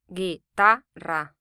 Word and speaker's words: Guitarra: This word ends in a vowel, so the syllable before last is stressed.